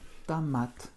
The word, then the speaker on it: томат: Tamat. L'accent tonique tombe sur le A final. Donc mon O est presque prononcé comme un léger A.